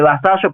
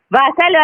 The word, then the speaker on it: Vassallo: Porque bueno, volvemos a hablar, sos Vassallo, se escribe Vasallo, pero de Vassallo ya no tenés nada. Claro, porque ¿cómo se dice? Yo le digo Vassallo, ¿no? Es Vassallo. Vassallo, así, perfecto.